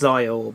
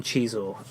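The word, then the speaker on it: Xizor: who I believe is pronounced Zior, but the narrator on the version I heard calls him Chizor.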